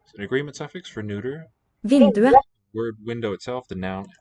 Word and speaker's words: vinduet: Er vinduet åpent? Er vinduet åpent? Er vinduet åpent? Vinduet. Vinduet. Åpent. Vinduet. Big two syllables, just a sequence of vowels there. Silent T.